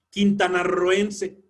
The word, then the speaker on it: quintanarroense: Quintanarroense es el sonido fuerte, pero está entre vocales.